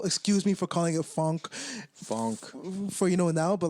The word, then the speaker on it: phonk: So excuse me for calling it funk for now, but like I just love how you're like funk, which is spelled PHONK, Funk.